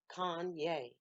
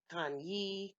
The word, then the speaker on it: Kanye: the his name wrong Kanye told us several times it was pronounced Kanye with a long a but she seemed to screw it up on purpose and would say time ye Tania whatever your name